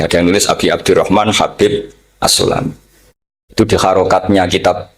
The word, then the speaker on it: Habib: Ada yang nulis Abi Abdurrahman Habib Asulami. itu di harakatnya kitab itu ada yang nulis subbab yang benar. Oh, nggih. Yang benar itu bacanya habib.